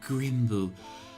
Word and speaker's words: Grymble: So the rat looks down, and they look at you and says, it's pronounced Grimble.